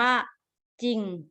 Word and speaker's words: จริง: ที่ อยู่ ข้าง หลัง แต่ เวลา อ่าน จะ อ่าน ออก เสียง ว่า จริง จริง ๆ นะ คะ ไม่ มี เสียง รอ แต่ เขียน เวลา เรา เขียน มี ตัว รอ แต่ ออก เสียง ไม่ มี รอ ดัง นั้น นะ คะ